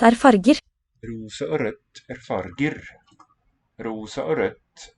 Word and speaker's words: rødt: Rosa og rødt er farger. Rosa og rødt er farger.